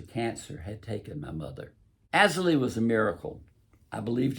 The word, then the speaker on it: Azalea: But not as bad as I thought they would be, and that was because of Azalee. That name is pronounced Azalee, even though it's spelled A-Z-A-L-E-A, like azalea.